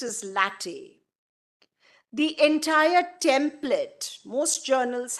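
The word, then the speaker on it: LaTeX: it's spelled as l e ex but it's pronounced as latte the entire template most journals have that option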